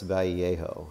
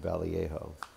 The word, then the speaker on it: Vallejo: Or Boris Vallejo. I think is how you say his name, Vallejo.